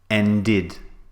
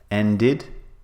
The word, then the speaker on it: ended: for example end becomes ended now notice I've added a extra syllable and is one syllable ended is two syllables like need becomes needed